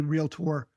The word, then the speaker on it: Realtor: And there is a difference between being a realtor, which rhymes with Skeletor.